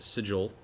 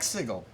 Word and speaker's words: sigil: finished drawing what looks to be a large sigil-- I fixed my pronunciation in that, thank you-- SAM: I like "siggle." MATT: I grew up with "siggle," and nevertheless-- I know.